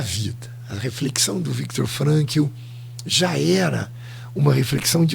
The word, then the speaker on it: Frankl: como se fala, e Frankl, eu acho que a pronúncia é F de faca, R de rato, A de Antônio, N de navio, K de que bom e L, Frankl.